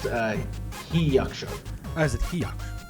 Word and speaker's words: Hyachso: I'm gonna mispronounce this. I know I am. Hyacsho.